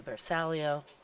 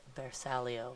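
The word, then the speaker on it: bersaglio: it looks like that's going to be a versalio also the correct pronunciation is bersalia which means Target in Italian yeah Michael corrected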